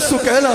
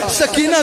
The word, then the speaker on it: سکینہ: سال کی شہزادی حضرت سکینہ سلام علیہا، سکینہ کہا جاتا ہے، اصل میں نام سکینہ ہے، سکینہ اصل تلفظ سکینہ ہے، حضرت سکینہ سلام علیہا